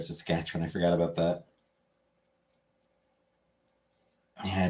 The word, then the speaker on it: Saskatchewan: Sass, cat, chew, on. Saskatchewan.